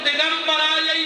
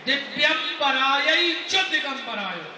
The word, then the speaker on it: दिव्यंबराय च दिगंबराय: दिगंबरा यही चो दिगंबरायो, माने माता भी नग्न होके तुम्हारे घरे आवे और शंकर जी भी नग्न होके आवे, जबकि शुद्ध उच्चारण है दिव्यंबराय च दिगंबराय, मतलब जिनके दिव्य आभूषण